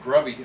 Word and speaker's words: GRBY: And by the way, the tournament is for the GRBY, grassroots bass fishing, pronounced grubby, I've been told.